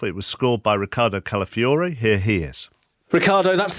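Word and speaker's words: Calafiori: It was scored by Ricardo Calafiore.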